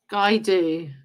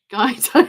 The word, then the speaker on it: Guido: Guy do. What's Guy do? Oh, I pronounced it wrong.